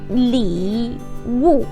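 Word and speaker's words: 礼物: So you can say present li wu. So li wu. That's the third tone.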